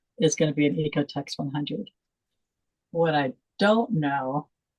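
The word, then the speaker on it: OEKO-TEX: It's spelled OEKO. So you don't say the O, Ecotex 100.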